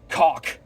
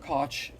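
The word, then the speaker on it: Koch: the uh uh thear seminar that the Greg COA yes that's how you pronounce his name it's not cooch it's not cootch it's it's pronounced he made sure to tell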